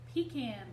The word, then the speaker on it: pecan: what I've been taught are called pecan trees. So if you don't say it like that, you're saying it wrong if you're down there on the farm.